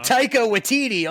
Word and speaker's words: Taika Waititi: I'm Taika Waititi on the East Coast.